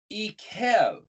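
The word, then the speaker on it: Eikev: to show you that here they pronounce it e kev pronounced or spelled iron coof bet but that's the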